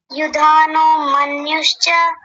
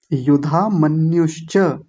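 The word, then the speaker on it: युधामन्युश्च: जी आप सुनाइए जी यु मनुष नहीं युधा मनुष युधा मनश्च विक्रांत उत्तोजा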